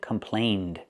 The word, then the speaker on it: complained: Past pronunciation, complained. Complained about. Now we're linking complain with a vowel, so you hear the d sound. The d sound is very important. Complain d. Link the sounds.